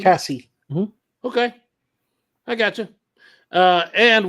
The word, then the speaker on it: Kasi: I think we pronounce it Kathy, not Casey. Kathy. Cassie? Cassie.